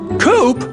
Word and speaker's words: Coop: Coop? That rhymes with scoop.